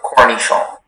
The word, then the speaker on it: cornichon: There's just the one, cornichon.